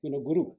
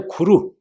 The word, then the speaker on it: guru: So we should follow this side, Guru. But in Tibetan, they read like a Tibetan style, and they say Kuru. So it shouldn't be Kuru. They might read Kuru, if there's no prefix.